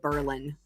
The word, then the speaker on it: Berlin: There's a town in Wisconsin um that was called Berlin and then after World War II, they changed it to be pronounced Berlin.